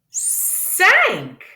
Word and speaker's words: cinq: Normalement, la lettre C dit k, k, a hard C. But when it is followed by la lettre I, it becomes a soft C. S, I, n, k. But remember, there's a blend. I et N, un, un. S, un, k, s, un, k. Cinq.